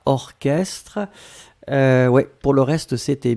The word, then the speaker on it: orchestre: Souvenez-vous, C'est bizarre, mais il existe certains mots qu'on écrit ch, mais qu'on prononce que. Il n'y en a pas beaucoup, c'est vraiment une minorité, mais ici c'est un exemple.